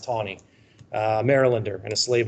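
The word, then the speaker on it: Taney: no no no Roger t t NE y it looks like tiny believe it's pronounced Tony uh marylander and a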